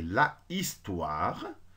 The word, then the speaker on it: histoire: bête en plus tôt on peut pas dire le sommes une histoire normalement c'est l' histoire mais comme il ya 1 h muet un facile la première voyait lille à jemelle apostrophe directement et ça devient l'histoire donc une histoire l'histoire